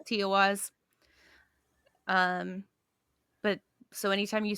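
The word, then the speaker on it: Tiwaz: like the arrow that points up um it's tiaz is how you pronounce it um surprisingly I thought it was going to be a lot harder than that but no it's toas um but so anytime you see that Rune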